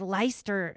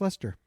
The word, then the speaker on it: Leicester: For this whole time, I've been in my mind thinking it was Leicester Square. No, it's pronounced Leicester.